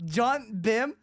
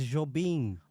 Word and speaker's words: Jobim: John Bim. Is that a That's new not teacher how at it- ICMP? That's not how you. I said That's John not how Bim. you say his name. It's Jobim.